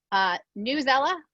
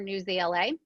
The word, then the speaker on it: Newsela: Newsela or Newsela, which I know a lot of people are familiar with, and your pronunciation choice.